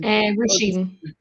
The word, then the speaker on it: Roisin: And for anybody listening, um Roshan's how do you say your name? Roshan. Roshene.